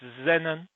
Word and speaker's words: xenon: krypton we've got xenon we use an x we pronounce it as a z so it's xenon and we've also got